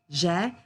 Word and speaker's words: j'ai: A lot of students pronounce j'ai as je, and we can't hear the past tense here, okay? So, j'ai, tu as, il a, elle a, on a for the singular forms.